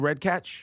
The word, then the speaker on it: Redkach: Redkach?